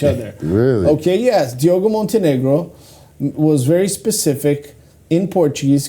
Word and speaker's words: Montenegro: But Diogo Montenegro recently. Very nicely pronounced, Tim. Thank you. Montenegro.